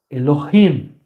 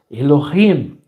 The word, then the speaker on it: Elohim: Se chama Elohim, tá bom? Essa é a pronúncia. Elohim.